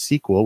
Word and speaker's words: SQL: the most common language there is SQL usually pronounced sequel which stands for a structured query language because